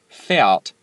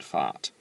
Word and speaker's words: fährt: Fährt, not fahrt.